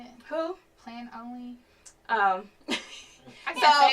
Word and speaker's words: Planoly: Plan only? I can't say it, y'all. So it's PLANOLY, Plan Only.